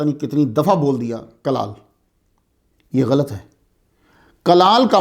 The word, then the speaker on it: کلال: کلال، پہلے تلفظ پہ غور کر لیں. آپ چھوٹی کاف کے ساتھ ہے. چھوٹی کاف کو اصطلاح میں القاف المعارہ بھی کہتے ہیں. چھوٹی کاف کلال، اصل تلفظ جو ہے وہ کاف پہ پیش ہے.